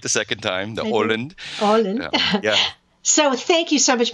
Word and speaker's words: Åland: Åland.